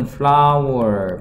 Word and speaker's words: flour: 자, 밀가루는 flour, 발음은 우리가 하는 꽃이랑 똑같죠?